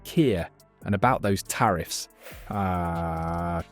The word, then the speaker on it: Keir: does tariffs like me star actually sir it's pronounced Kier and about those tariffs uh Trump British steel